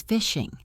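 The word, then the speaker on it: phishing: One of the most common threats is fishing. Fishing is spelled with a P, not an F. It sounds exactly like fishing for fish, but it means criminals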